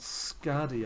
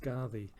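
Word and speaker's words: Skaði: scardy that's actually that although it's um spelt scardy i believe that's pronounced pronounced scardy um because the the the d in norse isn't really a d it's a um so i i believe that's pronounced scarvi but anyway um that's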